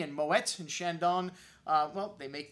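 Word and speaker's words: Moët: That's right, the E is pronounced because the accent after the E. And Moet and Chandon, well, they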